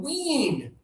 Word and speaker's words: wean: This one is high tongue, wean.